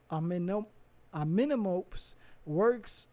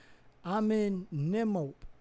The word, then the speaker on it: Amenemope: Amenemop, right? Or Amenemope. I think it's Amenemope.